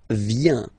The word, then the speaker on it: viens: First form, je viens. Final S not pronounced. Je viens.